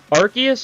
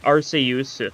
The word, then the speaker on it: Arceus: Arceus is pronounced, like, Arceus in, like, Japanese, but it's pronounced Arceus usually in English. It varies a little bit, but it's mainly because they don't want it to sound like arse. Because, you know, that's, you know, not the best thing to say in, like, British places.